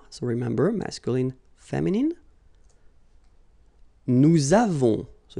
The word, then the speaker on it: nous avons: Nous avons, so you can put this little liaison, link between the two. Nous avons.